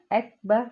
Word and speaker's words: اکبر: حابش ہو، اللہ اللہ، حمزہ کاف زبر اک، با زبر با، اکبر، واپش رو اکبرو۔ آگے کیونکہ ہم نے